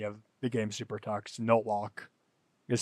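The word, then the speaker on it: Nolok: In fact, if you're wondering where NLK's name came from, it's from the main enemy of the game Super Tux, Notlock. Is spelled N-O-L-O-K.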